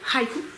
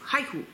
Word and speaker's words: haiku: Kit Découverte pistacho high highik pas Haiku Haiku en japonais il faut prononcer le ha c'est un parfum autour